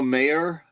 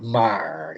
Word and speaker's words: Maher: Bill Mayer? Bill Mayer? Bill Maher. Bill Maher? Okay. So I think they pronounce it Maher.